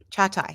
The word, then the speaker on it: Çağatay: It's Çağatay. Çağatay. Okay. Yeah, Çağatay. I will work on it. Yeah, I'm used to it.